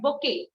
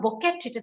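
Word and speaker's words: bouquet: that you see yes bokeh have you ever wondered why this has such strange spelling because it is a french word again you we put b-o-u-q-u-e-t it is not buket because it is a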